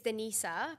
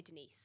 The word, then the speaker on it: Denisa: alexe is that correct technically it's Denisa but everybody calls me Denise okay so your friends